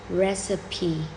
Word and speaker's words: recipe: Some may say it has only 2 syllables, but it actually has 3 syllables. You would say correctly like this: recipe.